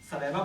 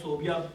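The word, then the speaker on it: ثویبہ: ایک صوبیہ یا صویبہ، 2 طرح سے اس کو تلفظ کیا جاتا ہے کیونکہ لکھا ایک ہی طرح سے آتا ہے. صویبہ سے سلکا سے واو یہ بے ہے، صویبہ پڑھا جاتا ہے اصل میں، لیکن ہمارے یہاں صوبیہ اس کو نام صوبیہ رکھا جاتا ہے.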